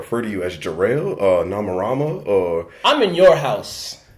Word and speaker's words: Nomarama: far in this interval oh so am i pronouncing or is it nama Rama no correct nama Rama okay all right so this is jor-el of